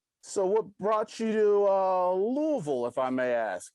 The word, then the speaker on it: Louisville: So what brought you to Louisville, if I may ask? Did I say it right? Louisville? Louisville.